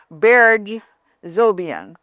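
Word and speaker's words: Berge Zobian: Island Waves and a dear friend of mine, Beer Zobian.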